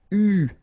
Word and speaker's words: eu: so it's an exception, it is pronounced U, okay? U, that's the way you should pronounce it.